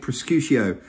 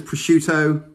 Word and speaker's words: prosciutto: wrong all these times i've been pronouncing it prescutio assuming that the double t was kind of like a shh what are you saying my wife says prosciutto just tell me who's